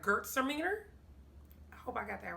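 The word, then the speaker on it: Gewürztraminer: say oh she says she pronounces it like girls are meaner and i guess it's like gert sermener i hope i got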